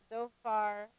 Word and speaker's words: Zophar: So here's the pronunciation. So we have Eliphaz, the Temanite, Bildad, the Shuhite, Zophar, the Naamathite.